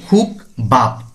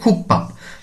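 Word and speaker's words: 국밥: যেমন এখানে খুক পাপ, খুক পাপ, অনেকে বলে খুক বাপ, না উচ্চারণটি কেমন হবে? খুক পাপ।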